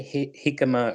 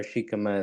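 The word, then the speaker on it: jícama: In English, we don't usually say the J like an English J.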